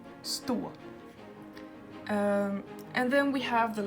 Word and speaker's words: stå: is wrong but yeah spot versus stool you heard here how this is longer than this one store spot store and then we have